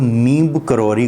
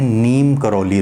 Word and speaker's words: नीम करौरी: रामा कृष्ण को कृष्णा तो वह नीम करौरी को उन्होंने नीम करौली नाम रख दिया अब होता यह है